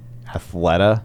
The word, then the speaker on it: Athleta: fan engagement you know I could see in Athleta is that how you say it yes it